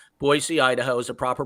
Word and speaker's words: Boise: We pull an attorney right out of the thin blue air from Boise, not with a Z, but with an S. Boise, Idaho is a proper pronunciation.